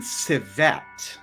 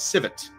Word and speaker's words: civet: So speaking of pronunciation I often hear this pronunciation CET now I don't know where that came from but it seems to have become uh an infection in the community um I hadn't really heard that pronunciation until recently with certain YouTubers um but for the record I have only known it as civet uh not civet not